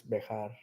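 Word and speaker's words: Bexar: You guys call it bear, pronounce it bear, like Bear, but I think in Spanish it's Bejar.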